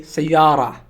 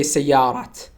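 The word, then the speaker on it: سيارة: pronounce it without we sayara we don't pronounce te at the end of the world we don't say sejarat we sayara okay but if you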